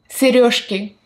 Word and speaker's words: сережки: Сережки.